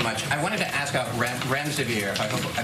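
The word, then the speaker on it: remdesivir: thank you so much I wanted to ask rent REM severe if I pronounced that correctly can you test a zit currently approved for use on the virus so REM des aveer and it's a drug made by gilja that's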